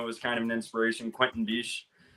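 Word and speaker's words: Quentin Bisch: Quentin Biche. Right. I think that's how you pronounce his name.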